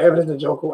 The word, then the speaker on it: Evidence Njoku: Evidence Njoku.